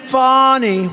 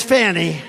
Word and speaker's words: Fani: fonnie well it's now even though it's I believe it's spelled f ni I to my way of thinking that's Fanny but once she became the district attorney I think she put a little emphasis on the U fonnie so corrupt fonnie Willis